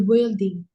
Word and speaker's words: building: dari gedung itu of the building Nah, cara baca building. Building cara bacanya building U-nya nggak usah dibaca.